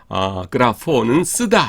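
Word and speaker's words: γράφω: 하지만 그림 이 아니라 " 그래포 " 입니다 .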